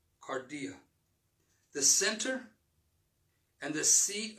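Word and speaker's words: kardia: move forward amen in the greek heart is pronounced cardia the center and the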